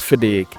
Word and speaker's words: FIDIC: Now, if you are not familiar with FIDIC, which I pronounce here as FedEx, is the global organization for engineering and construction professionals.